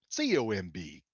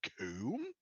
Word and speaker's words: comb: C-O-M-B, coom. No, It's comb. comb.